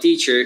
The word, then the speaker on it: teacher: want to say about teacher is remember that the ch should be pronounced like tch i'll be a palatal